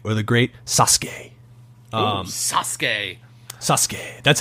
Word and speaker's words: Sasuke: the great Suzuki or the great Sasuke Sasuke Sasuke that's how it's actually pronounced if you're from America your prices uki